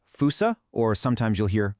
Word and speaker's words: fossa: Well, it's pronounced fousea or sometimes you'll hear foo.